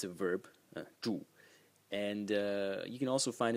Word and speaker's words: 注: The second character, again pronounced 住, and it means to pour.